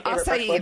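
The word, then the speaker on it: açaí: I love acai bowls. Yeah, acai, that's how you say it.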